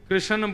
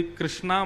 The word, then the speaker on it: कृष्ण: लाल की जय बंधुओं कई लोग इस नाम को अशुद्ध बोलते हैं कई लोग कृष्ण बोलते हैं कई लोग कृष्ण बोलते हैं कोई कृष्णा बोलता है भगवान का नाम शुद्ध उच्चारण करो नाम क्या है कृष्ण भगवान जय श्री कृष्ण कृष्ण